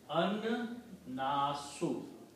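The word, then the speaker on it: النَّاسُ: so it will be an-nasu. So this word will be written like that. An-nasu, the people. Originally it was Nasun and Al separately. When you combine them, its pronunciation will be Annasu, the people.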